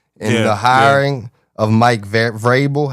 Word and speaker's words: Vrabel: And the hiring of Mike Vrabel, how you say his name over there?